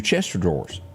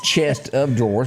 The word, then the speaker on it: chest of drawers: line of uh your Chester drawers that's not what it says but it's chest of drawers but most people say Chester drawers say it real fast and you'll make both people happy that like it pronounce